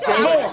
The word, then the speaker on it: s'mores: It's pronounced s'more. Yeah, it's a contraction of salt.